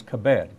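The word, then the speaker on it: כבד: In the original text, the Hebrew word is kabed, K-A-B-E-D, if you were to spell it out in English.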